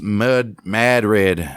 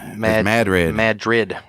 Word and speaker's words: New Madrid: The town of New Madrid, pronounced Madrid. Madrid.